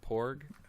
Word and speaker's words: Porg: Didier here, and welcome to the first inaugural episode of the Porgs Nest Podcast. Did I pronounce that right? Is it Porg?